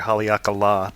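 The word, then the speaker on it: Haleakalā: we got it at hakala or sorry hakala national park because we learned from the Rangers that the line of the last a means it's a long a then when we went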